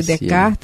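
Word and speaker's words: Descartes: eu não sei fazer a única observação que sei do francês é que a letra s você não pronuncia René decart Leon Deni pronuncia é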